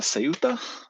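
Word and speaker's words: Ceuta: Uh, suta I think is how you pronounce it. The Spanish way of pronouncing it, but I think westerners or or non- Spanish people I think say suta or something like that.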